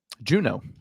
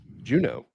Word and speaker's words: Juneau: Juneau. Juneau. Yeah. Spelled. Remember, my mom would tell me it's spelled June AU, like your birthday month in Right.